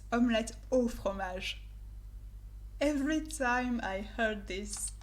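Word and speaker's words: omelette au fromage: we never say this and we don't say omelet di fromage it's not french it's omelette or fromage every time i heard this omelet di homage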